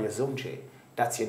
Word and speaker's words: Zumjay: So the name spelled Z-U-M-J. But I put the A-Y on it so people could know the pronunciation, because otherwise people would, you know, call me Zumj. So that's how Zumjay came about.